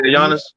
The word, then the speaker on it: Giannis: You say Yiannis.